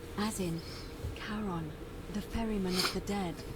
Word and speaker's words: Charon: Only your pronunciation is a little off. The name you heard wasn't Karen. It was Charon, as in Charon, the ferryman of the dead.